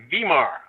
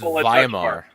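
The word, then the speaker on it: Weimar: we'll have a wear vmar the vmar Republic economy well if if you want to pronounce it right it's viar viar yeah it's been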